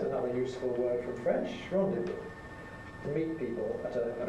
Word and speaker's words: rendezvoused: Because if we rendezvous if you like, the last sound is a voiced sound, so for the past tense we have D, rendezvous.